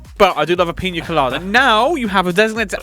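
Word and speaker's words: piña colada: The British version, we just say pina colada. But the actual Spanish, you have to pronounce it Pina colada. Because you've got the Enya letter. Yes. That's I only learned that recently. It's the N with the little S, sideways S above it.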